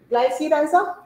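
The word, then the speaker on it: Glycyrrhiza: So scientific name of मुलट्ठी है ना, ग्लाइसीराइज़ा, ऐसे ही प्रोनाउंस करते हैं इसको.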